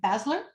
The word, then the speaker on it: Basler: to uh asl how do you say your last name basler you're doing it yeah you're doing it perfectly cheryl with spazzler yep